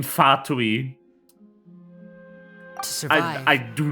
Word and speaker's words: Fatui: I do not know where the fucking English dub gets of pronouncing, stressing the second syllable in Fatui.